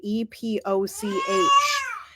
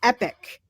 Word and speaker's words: epoch: how to pronounce the word e p o c h it's epic not epoch it's not Epoch it's epic yes right see I listen